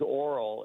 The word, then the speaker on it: Oral: But I'm My name's Oral and I say the O really quick.